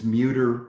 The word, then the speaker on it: Muerdter: So let's go ahead and quickly, oh, and again, my name is Muerdter, rhymes with computer, and we can kind of get an idea of where we are.